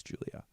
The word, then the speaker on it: Julia: But she said I was very funny, but she was like, my name's not Julie, it's Julia.